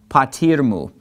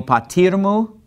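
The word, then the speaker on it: πατήρ μου: So we put our accent on patir, and we basically pronounce this as if it were one word. So to say, and my father, we say, ke o patirmu, patirmu, okay?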